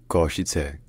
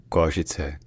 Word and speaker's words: Košice: So locally, in Slovak, it's pronounced Košice. Košice.